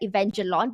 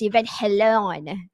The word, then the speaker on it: Evangelion: event from pubg mobile a pubg mobile x evangelion so that is actually a way to pronounce it initially it's like avenger lawn but it's i was doing a little bit